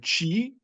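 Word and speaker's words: qi: qui voilà mais ça s'écrit q i quand même hein. J'ai j'ai fait j'ai fait ce que j'ai. En vérité en chinois c'est même pas c'est Oui. Alors ça s'écrit th et en japonais c'est qui c'est le qui et en chinois c'est le chi.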